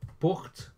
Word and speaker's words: portent: Therefore, porte, pronounced porte, but ENT on the end.